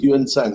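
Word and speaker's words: Xuanzang: For lack of my Chinese knowledge of Chinese Mandarin, I can say his name is pronounced as Yuan Sang in India.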